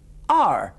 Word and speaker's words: hour: No la pronuncio, es una excepción. Are, eso es hora.